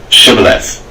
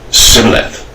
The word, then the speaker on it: Shibboleth: And said they unto him, Say now, Shibboleth. He said, Sibboleth, for he could not frame to pronounce it right.